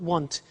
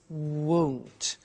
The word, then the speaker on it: won't: It's not want, it's won't.